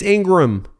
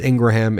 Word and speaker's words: Ingraham: epitome of evil and you may also be saying it's Ingram it's Ingram no Curtis Ingraham explains that their last name is actually Ingraham that's why I pronounce it that way so here's what